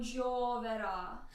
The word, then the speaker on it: gioverà: Tutto il tuo piangere non gioverà. So it stresses on the last syllable, gioverà, Gioverà.